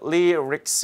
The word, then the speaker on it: lyrics: L 발음과 R 발음이 같이 있기 때문에 발음하기 쉽지 않죠. lyrics 이렇게 있습니다.